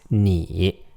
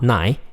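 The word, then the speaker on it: 你: means you it's pronounced knee yeah ni is pronounced knee I in Chinese is pronounced e like a long e vowel like almost like double e in English II me me not nigh me it means you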